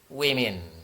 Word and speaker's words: women: Tapi kalau sudah lebih dari satu, tulisannya berubah menjadi woman, bacanya women.